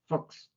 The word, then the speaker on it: Fuchs: Now, your last name, I was about to say Fucks, but Oh yeah, well, I've heard that. Well, in German, my last name like Fuchs is pronounced Fuchs.